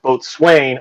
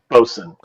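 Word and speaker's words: boatswain: like bosun but uh when I saw it spelled that way I thought it was oh both Swain or both Sun they're the same thing no that word is pronounced boson I don't know how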